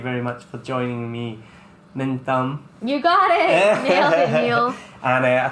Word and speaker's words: Minh Tâm: own my identity I'm going to go by minum which is like my middle and first name